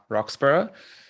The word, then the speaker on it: Roxburgh: A note on the surname pronunciation, it's Roxburgh, bane of my childhood to get that mispronounced, but blame my Scottish father.